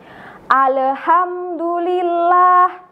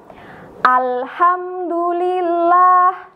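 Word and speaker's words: الحمد لله: Contohnya begini teman-teman. Alhamdulillah. Nah, di situ kita bacanya ale. Nah, itu kurang tepat teman-teman. Itu namanya tawalut atau memantul. Sedangkan contoh yang benar bagaimana? Contoh yang benar begini. Alhamdulillah. Nah, seperti itu.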